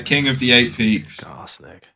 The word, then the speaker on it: Skarsnik: Okay, next we have Skarsnik, King of the Eight Peaks.